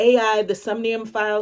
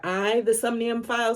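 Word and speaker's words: AI: The Somnium Files: new game coming out in the AI the sunium file series or I the sunium files I had no clue that's how you pronounce it um but I've played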